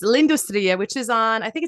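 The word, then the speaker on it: L'Industrie: that's turned out that's how you say it's lindustriya which is on I think it's on South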